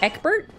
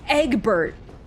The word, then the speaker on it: Eggbert: need a new pair King Eggert it's Eggbert how dare you mispronounce my child's name egg okay that